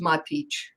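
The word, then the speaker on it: Matić: They decided when they came to the U.S., so many people added the H, so either SH, CH to have that ch sound, because we have that little check mark over the C's and the S's, but it's pronounced Matic.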